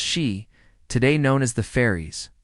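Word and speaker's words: sídhe: The Tuaha Donan used their innate magic to become the she pronounced she today known as the fairies, little people or the we folk.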